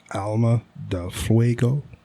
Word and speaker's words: Alma de Fuego: My number 1 is the Plasencia Alma de Fuego. I think you're saying that wrong. Alma de Fuego. It is pronounced ALMA, Alma, DEL, Del, FUEGO, Fuego.